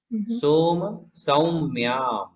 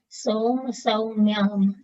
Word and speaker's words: सोम सौम्यां: हाँ, एक में एक मात्रा, एक में दो मात्रा है। सो सौ उच्चारण में अंतर है। सोम सौम्यां। सोम सौम्यां।